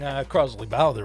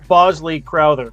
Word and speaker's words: Bosley Crowther: Something Crosley Bowther would like. I think I'm pronouncing him. Is that his name? Crosley Bowther? Bosley Crowther.